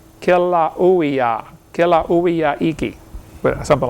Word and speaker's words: Kilauea: Basalt from Mount Kilauea, how you say it? They pronounce every vowel over there in Hawaii. Kilauea, Kilauea-iki, but something like that.